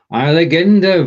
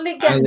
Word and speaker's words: eierlegende: Eierlegende, not legende. Legende, if you put the emphasis on the second syllable, so legende, that would be a legend. But this is legende, eierlegende, which is an egg laying.